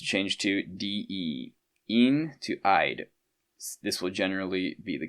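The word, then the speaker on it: -ide: Annions, elements that are that become annions, usually change their suffix, the ending of the name to D, pronounced eyid eyid. Okay, cations usually do not change their name when joining a compound.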